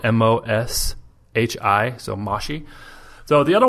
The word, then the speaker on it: Moshi: And this is called Moshi, and that's spelled MOSHI, so Moshi.